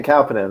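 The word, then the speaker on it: Kauppinen: to brad we'll go to brad for the pronunciation and uh and the preview yeah ken calpinion um ken obviously uh well known on the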